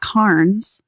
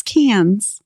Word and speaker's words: Cairns: It's not Carns. It's Cans.